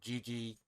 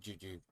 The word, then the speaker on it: Gigi: Or Gigi, not Juju, Gigi.